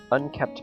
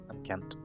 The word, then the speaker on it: unkempt: I catch a glimpse of her eyes looking silently at me from under her unkept bangs. Unkempt. What? Unkempt, I think it is. Unkempt? Yeah, I think it's pronounced that way.